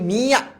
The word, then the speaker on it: মিয়া: নাম হচ্ছে মিস্টার মিয়া এটার উচ্চারণ কিন্তু মিয়া মিয়া নাকে হবে চিল্লায় বলতে হবে প্রশ্ন